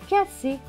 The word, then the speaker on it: cassé: Deux S, les deux S se prononcent se. Avec E, accent aigu, c'est E. Donc S et E, C. Donc ce mot va se lire K, C, K, C, cassé.